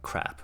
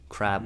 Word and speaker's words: crab: 이런 I'm so glad that he didn't mispronounce it as like crap with P, because a lot of Koreans make that mistake. Crab with B, C-R-A-B, right?